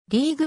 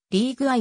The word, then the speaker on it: RIG-I: にされたリーグはんと謝って発音されることが多いが正しくリー具合であるレチノイン酸によっ